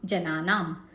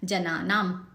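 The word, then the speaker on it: जनानाम्: भवजले पतताम जनानाम, आखिरी वाला जो म है आधा है, हलंत है, जनानाम करके छोड़ देना है इसको।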